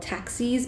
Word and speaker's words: taxis: I know it looks like it's spelled taxis, but it's actually taxis.